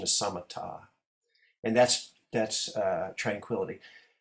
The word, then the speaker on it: samatha: in um in the Tranquility is called samata it's spelled like samatha but the pronunciation of samata and that's that's uh Tranquility you may notice